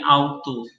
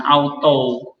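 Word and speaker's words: αὐτοῦ: Bacanya jadi autu, bukan auto, autu. Seperti tadi, O itu dalam huruf grup, bukan grup, ya kan? Grup. Berarti U agak panjang.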